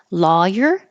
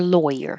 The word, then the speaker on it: lawyer: Lawyer or lawyer. You have 2 choices. I want my lawyer with an ah or lawyer with an oi.